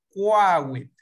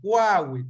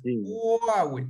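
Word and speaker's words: kwawit: En español usted diría Quawit, ¿verdad? Pero no es así, no es gua. Es qua, Quawit.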